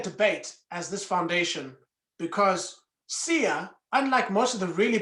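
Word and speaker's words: Siya: name his name is his first name is sia that's spelled s-i-y-a and his surname is kuza in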